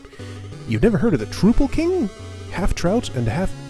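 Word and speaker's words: Troupple: never heard of the trupal king half trout and half Trel the trle king half trout and half Apple pronounced like mouthful he's one of the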